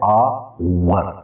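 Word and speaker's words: hour: अब ये जो आवर है, यहाँ पर एच जो है वो साइलेंट, हम इसको पढ़ते हैं आवर, तो इससे पहले हम करेंगे आइन का इस्तेमाल।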